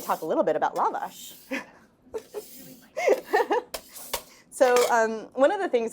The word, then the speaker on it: lavash: And we did a book talk in LA, and they said, "Can you please tell people to pronounce it lavash?"